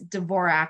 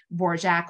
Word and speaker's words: Dvorak: and a chorus girl which indicates Dvorak was how she was pronouncing it um when she gets signed by Howard Hughes in 1931. um she signs her contract D apostrophe v-o-r-i-k so I think that could maybe go either way you know War Jack or Dvorak um and then more